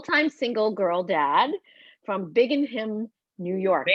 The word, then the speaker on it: Binghamton: He's a full time single girl dad from Binghamton, New York. Did I say that right? Binghamton, Thank you. Binghamton.